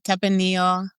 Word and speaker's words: Tempranillo: And Tepenillo. Did I say that right? Tepenillo.